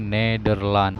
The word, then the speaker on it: Nederland: Jadi hampir sama ya, cuman bacanya beda sedikit, yaitu Nederland.